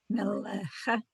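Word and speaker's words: מלך: Mel, mele, mel, le, melecha, Not, it's melech.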